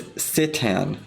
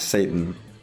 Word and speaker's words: Citan: His name is Citan, not Satan.